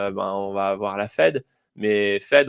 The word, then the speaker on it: Fed: on va vooir la Fed mais fed on prononce fed on prononce pas FID donc il y a